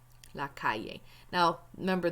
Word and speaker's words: calle: And the word for street, right here, la calle. La calle. Now, remember, those double L's are pronounced like Y's, okay? Not like L's.